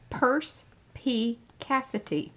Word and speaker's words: perspicacity: Now, Fran wrote in there, this is how you say it, perspicacity.